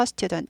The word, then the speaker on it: student: 나는 학생입니다 I am인 말이죠 I am a student 나는 학생이다 이렇게 되죠 하나이는 해석 안 해주죠